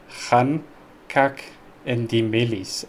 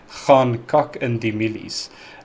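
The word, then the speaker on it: gaan kak in die mielies: heavy on that Afrikaans, because she said like gaan kak in die milies, and it's actually gaan kak in die milies. It's a lot more rounder if you want to put it that way, but it actually translates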